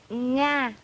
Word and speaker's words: Nga: My name is Nga, but you pronounce it Na. It's so different.